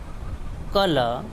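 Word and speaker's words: colour: The letter are इज not pronounced when it occur at द एंड ऑफ a word. जब word के आखिर में आर आता है तो उसका साउंड नहीं निकलता है, जैसे कि रिवर, कॉपर, कलर, पीटर, पिटे।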